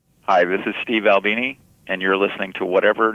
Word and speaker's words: Albini: That's the proper pronunciation for your last name, Albini?